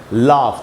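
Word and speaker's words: laugh: ए यू ये रहा ए यू और ओ यू के बाद अगर जी एच है तो आपको अक्सर उसे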